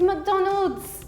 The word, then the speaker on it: McDonald's: And I'm like, it's McDonald's. And I even Googled it. There is an S, it's McDonald's.